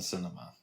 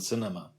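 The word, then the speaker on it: Sinema: I may never get to harass Kirsten Cinema, whose last name rhymes with enema. Actually, it doesn't. But it doesn't. It sounds more like cinnamon.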